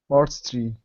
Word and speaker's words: artistry: okay so yeah so remember same thing with artist it's kind of like a d artistry arti three good Artistry arti arti three so let's uh break